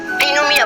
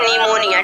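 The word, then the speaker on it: pneumonia: हैं इसको, पिनोमिया, लेकिन ये पिनोमिया नहीं होता, क्योंकि एन से पहले पी आया। जब भी एन से पहले पी आएगा तो रूल हमारा कहता है कि जो पी रहता है हमेशा क्या होता है, साइलेंट होता है, इसको हम बोलते हैं निमोनिया, ठीक।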